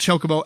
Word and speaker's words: Chocobo: It's pronounced Chocobo.